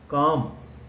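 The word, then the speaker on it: calm: वह शांत हो गया काम सी ए एल एम लेकिन जब भी एम से पहले एल आए तो वह साइलेंट हो जाता है क्या बच्चों ने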